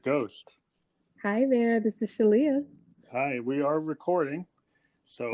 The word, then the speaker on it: Shaleyah: Yes, I mean, you put an extra emphasis on that Shah, but it's Shaleyah. And what I like to tell people is that it rhymes with Aaliyah, and that kind of helps to cement with the word association.